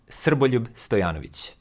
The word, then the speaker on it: Srboljub Stojanović: is to tell you how my name is pronounced and why I don't usually introduce myself like many reviewers. Because it is Srboljub Stojanović.